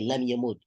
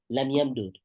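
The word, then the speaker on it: لم يمدد: You say lam yamud. Okay, it's two ways on saying it. Lam yamud. I'm sorry, lam yamdud. Lam yamdud. That's how you say it.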